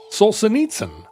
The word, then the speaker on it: Solzhenitsyn: We had 3 people say Solzhenitsyn wrong the other night, and Solzhenitsyn is what I would say.